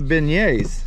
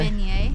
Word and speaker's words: beignet: Oh yeah, what about the beignets?